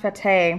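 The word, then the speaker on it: fatayer: this is called the fatir the time that's right oh it's pronounced Forte it's a basically a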